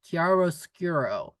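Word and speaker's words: chiaroscuro: word meaning um light and dark and it's pronounced kiaro skuro karos skuro so you see in socialist realism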